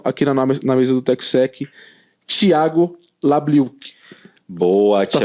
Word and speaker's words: Thiago Labliuk: Senhoras e senhores, recebam com muito carinho aqui na mesa do TechSec, Thiago Labliuk. Boa, Thiago. Tá certo essa pronúncia? Tá perfeito. Thiago Labliuk.